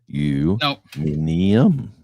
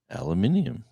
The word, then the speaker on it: aluminium: While aluminium is used in the British English and is preferred No, it's they say aluminium is what he's saying.